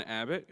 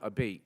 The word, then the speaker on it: Abate: next presenter Mr Abbott who will be presenting to Abbott Memorial Scholarship hi um my name is actually Abate so it's an Italian version but it's pronounced many different ways so tonight I have